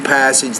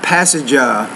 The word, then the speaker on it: passage: not passenger but just say passage two syllables not three so according to the